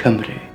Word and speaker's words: Cimbri: with the Germans, and whose name 20 centuries later happens to rhyme with the native name for the beautiful country I live in, Cimbri.